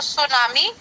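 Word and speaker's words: tsunami: का शब्द है तो सुनामी जापानी भाषा का शब्द है ठीक है जो टी एस यू सु मतलब है सुनामी लेकिन इसकी स्पेलिंग टी से शुरू होती है ठीक है और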